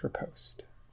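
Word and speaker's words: riposte: repost or repost it's repost the E is silent is that an English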